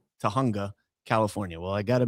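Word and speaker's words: Tujunga: She would say Tajjunga because she doesn't understand that's a Spanish word I think. And the J sound is actually an H sound. So Tahunga Nevada, not Nevada.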